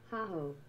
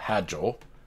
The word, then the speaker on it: Hajo: It's German. Haho. Haho. Haho. Haho. Okay. I'll try to remember that. Haho. Not Hajo.